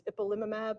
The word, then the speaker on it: ipilimumab: One of the challenges of checkpoint blockade is pronouncing the medications. So it's ipilimumab, nivolumab, and pembrolizumab.